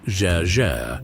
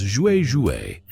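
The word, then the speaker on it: 啫: Note that while the Chinese characters for sizzling are pronounced jer in Mandarin in Cantonese, they are read as jouer.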